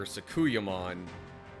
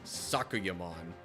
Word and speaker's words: Sakuyamon: So, I know especially when I was younger, I tended to put the emphasis on different syllables there. I would be calling her Sakuyamon instead of emphasizing it like Sakuyamon.